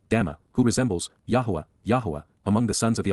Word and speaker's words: Yahowah: amazing accomplishments and outstanding achievements even miraculous fulfillments yahwah Yahweh the proper pronunciation of the name of eloah God as